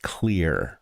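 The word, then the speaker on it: Xlear: That's X L E A R pronounced clear.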